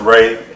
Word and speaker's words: Rhea: Ray. It's pronounced Ray.